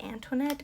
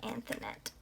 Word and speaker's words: Anthonette: to be talking about anthonette k dito i believe is how you pronounce it and i always want to say antoinette but it's not it's anthonette she was born on